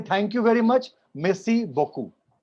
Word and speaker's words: beaucoup: सर बोकू में बहुत सारे वॉवेल्स का साउंड साइलेंट है ना. That is French. French में जहां भी ऐसे वॉवेल्स आपस में मिक्स होके आते हैं उसमें वो हो जाते हैं साइलेंट. So जब आप इसके पैटर्न को देखेंगे तो ऑटोमेटिकली विल अंडरस्टैंड कहां पर कैसे बोलना है.